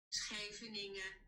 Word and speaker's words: Scheveningen: SCHEVENINGEN. Tell her to pronounce it. Wow, I can't spell. Oh my god. I spelled that wrong. That's you took it. Scheveningen.